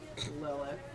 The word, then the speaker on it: Lilith: Yeah, my character's name is pronounced the way it's spelled. Lilith. I don't know, I was